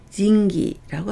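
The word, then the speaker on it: 仁義: 인의나 의리를 징기라고 합니다. 인수를 진주츠라고 하고요. 인왕, 금강신, 불교에서 얘기하는 금강신을 나타낼 때는 니라고 읽어서 니오라고 합니다.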